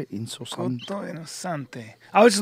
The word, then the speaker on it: Innocente: Innocente.